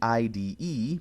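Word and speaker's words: -ide: name is dropped then the ending IDE pronounced ID is added to the root name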